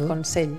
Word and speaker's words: Consell: Pues yo siempre, yo diría Consell o Consell, pero es la ella al final de sílaba tiende hacia la I, ¿no? Sí, Consell. Hay gente que le cuesta hacer la ella y hace I, pero es Consell.